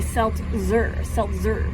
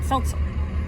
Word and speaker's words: seltzer: This is the word seltzer, and if you really pronounce the Z as in Z, it would be seltzer, but you're kind of saying it fast, so seltzer.